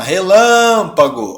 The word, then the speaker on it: relâmpago: Então você chama relâmpago. Ó, sílaba tônica tá aqui. certo? Não é a última, não é a penúltima, é a antepenúltima.